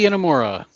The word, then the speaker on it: Inamura: Inamura? Yoshiki Inamura.